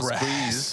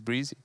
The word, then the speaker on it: Breezy: I've been calling it Breeze. I thought it was Breeze, but apparently it's Breezy.